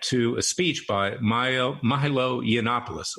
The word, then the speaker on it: Yiannopoulos: a speech by Milo Yiannopoulos. Always hard to pronounce it. It's Greek. He was writing for Breitbart at the time.